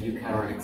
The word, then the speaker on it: eukaryotic: Eukaryotic. Nhưng mà ó nhỉ. The stress is on the ó.